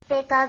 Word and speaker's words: Pika: You pronounced the name of the application wrong. So it's actually this. Pika pika.